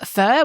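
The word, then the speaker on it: phở: I love Vietnamese food I love fur which is spelled pH H um which is like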